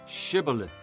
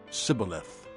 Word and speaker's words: Shibboleth: If he replied, "No," they said, "All right, say Shibboleth." If he said, "Sibboleth," because he could not pronounce the word correctly, they seized him and killed him at the fords of the Jordan.